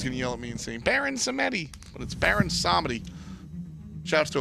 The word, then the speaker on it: Baron Samedi: Robin and the thought that will leave open Baron Samedi yeah it's ours that's how you say it by the way I mean everybody's gonna yell at me insane baron sammedi let's Baron Samedi chops to a wheel ish